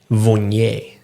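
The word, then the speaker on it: Viognier: is how popular are vignetes cuz the word itself is hard to say sometimes. Yes, it's funny with vi it's it's in French. It's um vignet is how we're supposed to say it.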